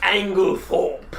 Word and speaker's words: Ænglethörpe: Master Ænglethörpe. There you go. Yes. That pronunciation is right on point.